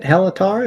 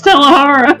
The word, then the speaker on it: Tahara: that makes sense is it helara is that how it said no it's tahara don't right now